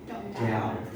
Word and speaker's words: doubt: It is a silent word, so we have to read O-U-T. Doubt. Once again, doubt. Okay.